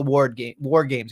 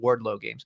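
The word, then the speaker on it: WarGames: It's an important piece of the puzzle, especially to lead into war games. He's going to call it Wardlow games. If you're going to say it, you need to say it right. War games.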